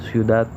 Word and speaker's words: ciudad: que recae en mor, o en ciudad, que recae en dat, o en feliz, lis, cuya fuerza o intensidad recae en lis.